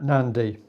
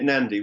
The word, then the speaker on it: Nandy: How do you pronounce her surname? Lisa Nandy. Lisa, yeah, Nandy.